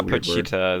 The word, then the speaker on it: Pochita: And he makes friends with this little chainsaw dog demon thing that he calls Puchita. Or Pochita. I don't know how the fuck you pronounce it. Yeah, Pochita.